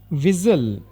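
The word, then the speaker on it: whistle: ಹೇಳಿ ಮಾತ್ರ ಪ್ರೊನೌನ್ಸ್ ಮಾಡಬೇಕು ವಿಸಲ್ ಇದರಲ್ಲಿ ವಿಸಲ್ನಲ್ಲಿ ಟಿ ಲೆಟರ್ ಸೈಲೆಂಟ್ ಆಗುತ್ತೆ ಇದನ್ನ ವಿಸಲ್ ಅಂತನೆ ಪ್ರೊನೌನ್ಸ್ ಮಾಡಬೇಕು ಟಿ ನ ಬಿಟ್ಟು ಇದನ್ನ ಕನ್ನಡದಲ್ಲಿ ಶಿಳ್ಳೆ ಅಂತನು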